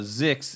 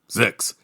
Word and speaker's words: ZYX: Both of them separate occasions told me, "Oh, Zix." And I thought, Zix? What? And then I go, oh, ZYX is pronounced Zix.